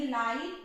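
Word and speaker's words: light: इसी तरह से एल आई जी एच टी, जी एच का साउंड साइलेंट रहेगा, कुछ भी साउंड नहीं निकलेगा, टी का ट, तो इसको पढ़ेंगे लाइट।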